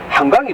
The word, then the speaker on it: 한강: 아까 걸어올 때 어느 분이 한강이 뜻이 뭐고 이렇게 얘기하시는데, 서울에 있는 거는 한강이에요. 발음을 길게 하셔야 돼요. 한강. 근데 여기 있는 한강정구라는 분은 짧게 발음하셔야 돼요.